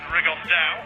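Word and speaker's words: Rigondeaux: Tete's talked about fighting Rigondo, or as he's correctly pronounced with the Spanish accent, Rigondao.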